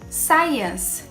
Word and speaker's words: science: Palavrinhas que têm o C, mas a gente não pronuncia o C. Como, por exemplo, em muscle, science, discipline.